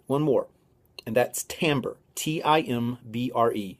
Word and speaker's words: timbre: texture really quick one more and that's timbre t-i-m-b-r-e it's pronounced timber it looks like timber but it's pronounced timber that means tone color the ability to tell